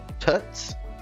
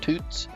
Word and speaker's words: Thut's: I believe it's pronounced Tut's or toots the H is silent but if I just